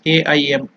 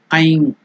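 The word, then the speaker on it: ऐं: So it is Aim. Just like Nai, it is Aikara. Aim or Aing. In the nasal Aing or Aim. If it is separately chanted, then it is to be completely pronounced as Aim.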